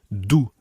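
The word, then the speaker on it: d'où: in both these sentences is the same it's do d apostrophe o u with an accent on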